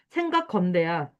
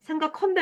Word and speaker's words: 생각건대: 넉넉치 않은 살림이 아니고 생각건대야. 왜? 생각컨대 아니야. 히읗 없어.